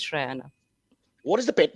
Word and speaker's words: Shrayana: Let me just say, because I have been on countless things where nonchalant they're just saying Sharanya, Sharanya, despite being told. So thank you for thinking about the pronunciation. It is Shrayana.